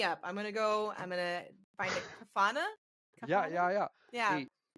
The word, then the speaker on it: Kafana: It's Kafana. Yeah. Okay. Exactly. Not how it's spelled.